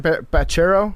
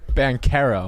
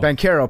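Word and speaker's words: Banchero: Bachero. Banero. Banero.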